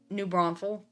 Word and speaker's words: New Braunfels: Neubraunfels, How do you pronounce that in Texas? New Braunfels, or New Braunfels, Okay. New Braunfels. For some people, it honestly depends.